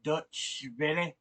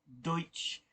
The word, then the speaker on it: Deutsche: yeah that's this is from DW Dutch I think is how it's pronounced anyway Deutsche really Brazil bolsonaro supporters